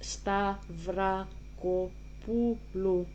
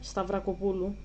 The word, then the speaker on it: Stavrakopoulou: So her name is pronounced Stavrakopoulou. Okay. So all together, Stavrakopoulou. That's how you say it. It's not that difficult. It's not that difficult once you learn a little bit about Greek pronunciation.